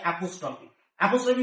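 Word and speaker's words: apostrophe: দেখো দুটো কিন্তু উচ্চারণের একটা ব্যাপার আছে এবং স্পেলিং এরও ব্যাপার আছে। আমি প্রথমে যেটা বুঝিয়েছিলাম সেটা হচ্ছে এপিস্ট্রফি। আর এখন যেটা বুঝাচ্ছি সেটা হচ্ছে অ্যাপোস্ট্রফি।অপোস্ট্রফি বলতে কি?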